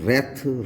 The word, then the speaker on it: wreath: इसी तरह से WREATH, रेथ। रेथ आपका एक तरह की कंडीशंस रहा करती हैं जिसमें हम तमाम घातक स्थितियों का अध्ययन करते हैं।